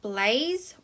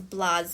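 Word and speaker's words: blasé: are quite tricky now this word is not blaze or blaze it is blase and it has a little apostrophe up the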